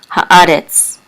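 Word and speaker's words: הארץ: And this is a He with a Kamatz, which says Ha, the. And the Aleph is silent, but the Kamatz says A. And the Resh with the Segol and Tzadi says Retz, Haaretz, which means the earth,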